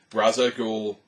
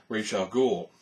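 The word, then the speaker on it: Ra's al Ghul: it has become Canon Raza ghou or re Al depending on who you talk to depending on which version that they do the pronunciations with is one of the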